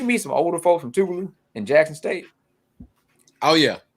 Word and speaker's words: Tougaloo: Is that Tougaloo? Tougaloo. Tug is what I usually get. No, you thick tongue bastard. That's not Tougaloo.